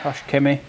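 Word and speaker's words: Koch-Chemie: you yeah yeah absolutely and then finally the Kos Kimi is that pronounced right yeah Kosh Ki pstar pstar so the M fact it's a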